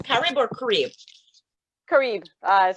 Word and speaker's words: Carib: Carib is how I pronounce it.